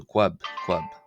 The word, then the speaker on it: ⲭⲟⲩⲁⲃ: and then a vowel, it's a qu sound as opposed to a cu ab sound. So quabb.